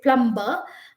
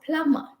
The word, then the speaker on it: plumber: and you know okay i will not say plumber but i will say plummer p l u m b e r is just plummer all right so the